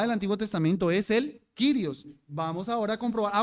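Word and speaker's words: κύριος: el se traduce con curios o kirios como se pronuncia según el griego clásico Coin Entonces cuando aparecía el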